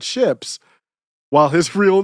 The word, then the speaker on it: Shipp: And Google says, Johnny Shipp's last name is pronounced like the English word ships, while his real name is Jonathan Shapiro.